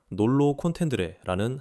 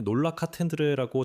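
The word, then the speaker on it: nolo contendere: 재판까지 그녀는 이전에 했던 무죄 주장을 철하고 놀로 콘텐드레라는 항변을 했기 때문입니다. 제가 전에 놀라카텐드레라고 잘못 발음했는데 이번엔 제대로 말한 것 같아요.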